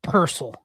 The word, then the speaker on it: Pearsall: It's Pearsall. I don't care. When he earns the right for me to pronounce his name correctly, I will.